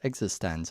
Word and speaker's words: eXistenZ: sneakers and existense which thankfully I know is pronounced existence I used to talk all about that yeah